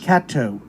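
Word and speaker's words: Caddo: name the only natural lake in texas lake cato uh did i pronounce that correct yes you are correct yeah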